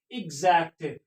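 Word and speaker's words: exact: follow by any vowel अगर एक्स के बाद कोई वाउल आ जाए तो फिर हम एक्स को क्या पढ़ेंगे जैसे ई एक्स ए सी टी एजेक्ट एगजाम एगजाम लेकिन यहां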